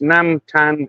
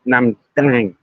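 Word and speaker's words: น้ำตาล: Um Uh Toby Price Price, nam tan is sugar. Yeah, but it's it's pronounced um it's not pronounced tan, it's pronounced uh nam dang. Almost a D.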